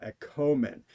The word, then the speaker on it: ἔχωμεν: I do as a short ah sound, and as the subjunctive with the omega, o large, I do as the long o sound, єхомен.